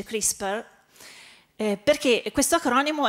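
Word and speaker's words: CRISPR: dire perché chris per si chiama tris parente giusti e chris paul ma si legge crispi perché questo acronimo è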